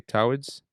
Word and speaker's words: towards: Please remember, say towards, just as if it rhymed with boards.